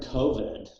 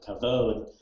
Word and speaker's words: Koved: tongue of the it'sh the term Kovan just the eastern european pronunciation of kavod can refer to a